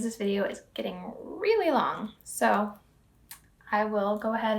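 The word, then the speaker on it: לא: is i'm gonna tell you very similar it's lo different letters in hebrew but pronounced like ello lo and then yes is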